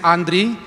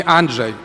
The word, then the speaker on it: Andrey: had the same issue my name is andrey and of course when i arrived 25 years ago to poland everybody was trying to call me anjay but for me